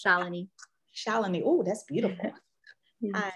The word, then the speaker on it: Shalini: Is this Shalina? Did I say it right, Shalina? Yeah, it's close, but it's okay. It's a hard name, it's Shalini.